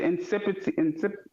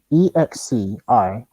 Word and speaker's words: excipient: Oh, no, he said incipient. How you say incipients? Incipient. How you say it again? Incipients. EXCIPIE. I'm sorry. EXCIPIENT.